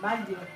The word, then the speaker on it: Baguio: What is Which is the proper way of pronouncing it? Baguio.